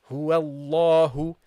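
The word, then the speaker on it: هو الله: The first part until the first lam that you pronounce is not heavy. Huwal, and then it becomes heavy. Huwallahu.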